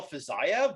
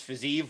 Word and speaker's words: Fiziev: typically that would be pronounced Fiziev, in that's how they do those sort of V's on the end.